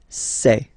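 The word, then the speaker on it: ces: And for the plural, c'est. Really open this c'est.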